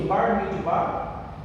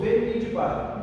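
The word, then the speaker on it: במדבר: O nome verdadeiro uns pronunciam Bar Midbar e outros Ber Midbar. Não está errado, é só pronúncia, tá bom?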